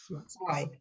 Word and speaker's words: zwei: And then Z as in zwei sounds like TS. It's not Z, it's zwei.